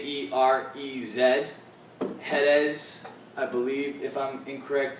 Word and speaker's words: Jerez: fill sherry casks from jerez spain i believe i'm pronouncing that correctly i know in spanish the j is pronounced like an h so it's spelt j j-e-r-e-z hedes i believe if i'm